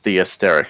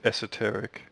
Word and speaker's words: Esoteric: or the Asteric? How do you pronounce that? The Esoteric. Esoteric. Yeah.